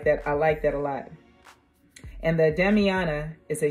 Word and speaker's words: Damiana: And it's pronounced Damiana.